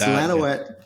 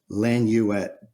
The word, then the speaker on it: Lanouette: It's Lanoette. If you're French, it's Lanoette. Lanuette is an American version.